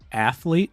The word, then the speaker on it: athlete: e after the th I know but do you pronounce the E yeah you do you do what you say athlete yeah e you're say you go straight from the th to the L you don't stop for the E Yeah so on